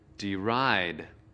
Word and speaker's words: deride: Từ deride có hai âm tiết. Trọng âm của từ deride ở âm tiết thứ hai.